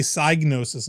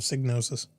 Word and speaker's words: Psygnosis: the whole thing, and yeah, I guess we've been pronouncing the name of this game company wrong our entire lives. Uh-oh. It's supposed to be Psygnosis instead of Signosis. I've heard 2 ways about that, and I'm staying Signosis.